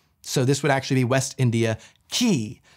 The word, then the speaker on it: West India Quay: far into the dockins maybe make sure you pronounce it West India key and if the queen